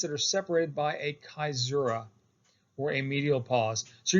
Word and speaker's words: caesura: pause is called a caesura, sometimes mispronounced as caesura, but I've been assured by Latin scholars that it is pronounced caesura.